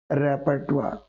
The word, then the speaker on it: repertoire: for one more last letter so r-a-p-e-r-t-o-i-r-e is repertoire got it what does it mean repertoire means